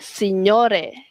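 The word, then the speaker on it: signore: This is a good example sebab kita dah tahu how to pronounce lazan dan juga senyore.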